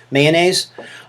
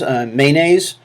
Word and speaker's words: mayonnaise: So here's one for mayonnaise, and so do you pronounce it with two syllables, mayonnaise? Or with three syllables, mayonnaise.